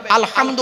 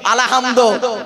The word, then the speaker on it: আলহামদু: উচ্চারণটা ঠিক করুন আলহামদু গলার ভেতর থেকে হেটা উচ্চারণ করবেন আলহামদু মানে হচ্ছে সমস্ত প্রশংসা তোমার আল্লাহর সমস্ত প্রশংসা আল্লাহর আর আমরা কি বলি উচ্চারণ করতে গিয়ে আলহামদু এর মানে শুনবেন সমস্ত